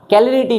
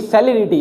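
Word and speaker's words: celerity: ठीक है, कैलरिटी नहीं है, ये सेलेरिटी है। इसलिए कहते हैं, देखो कभी कभी सी को क पढ़ता है, कभी कभी सी को सी पढ़ता है, तो इसलिए प्रोनाउंसिएशन पे ध्यान नहीं देना।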